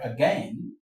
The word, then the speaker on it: again: Some of the words that begin with a Some of the words, for example, in the word again, again, the a here is a schwa sound.